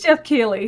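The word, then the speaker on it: Geoff Keighley: So Jeff Keighley, Keighley. I can't even remember now. Now my brain's gone. Jeff, we're just going to call him. Yeah, Jeff. no, it is Jeff Keighley.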